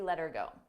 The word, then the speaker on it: let her go: Here, notice how her sounds like You don't hear the H, but I also attach it to the word before.